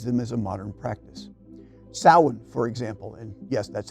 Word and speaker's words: Samhain: Samhain, for example, and yes, that's how it's pronounced, is observed on the evening of October 31st.